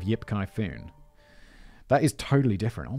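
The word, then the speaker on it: 叶继欢: In Mandarin, it'll be pronounced as Yi Ji Wan. Wan. Yi Ji Wan. Instead of Yip Kai Foon.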